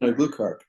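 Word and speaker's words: Aglukark: last name, so I'll let you try and pronounce it for me. Susan Glukark.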